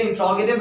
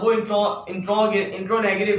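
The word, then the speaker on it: interrogative: ये एक और सेंटेंस जो कि वेरिएशन है, जिसको मैंने, ये इंट्रोगेटिव है, वो इंट्रोनेगेटिव है, यानी इंट्रोनेगेटिव बोलते हैं, मगर उसकी प्रोनाउंसिएशन ये रियल नहीं है. उसकी प्रोनाउंसिएशन है इंट्रोगेटिव.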